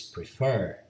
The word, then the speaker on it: prefer: Another verb is prefer. Prefer. Prefer. Fer is the last syllable and is stressed, and is also CVC.